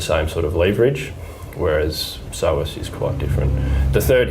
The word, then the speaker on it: psoas: flexor and then there's a muscle called psoas which is spelled psoas and that one is